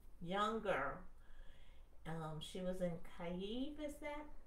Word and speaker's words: Kyiv: She was in Kyiv, is that how it's pronounced? Yeah. Kyiv.